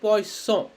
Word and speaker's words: poisson: If there is two S's, it's called poisson, poisson.